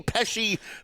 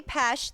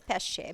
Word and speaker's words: Pesce: The Zany Peshy Pesarino. Wait, she's here. How do you say it? So, I say Pesh. The correct Italian pronunciation is Pesh. It means fish.